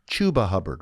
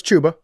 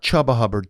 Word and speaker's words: Chuba Hubbard: Chuba Hubbard, right? Yeah, Not Yeah. No, it's Chuba. yeah. Chuba. Yeah. Chuba Hubbard, not Chubba Hubbard.